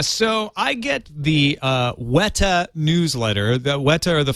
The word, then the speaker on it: Weta: w-e-t-a is it that i think if you're a new if you're a kiwi you'd say it wita well i i think